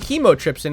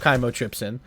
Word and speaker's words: Chymotrypsin: I was saying Chymotrypsin, or no, I was saying Chemotrypsin instead of Chymotrypsin.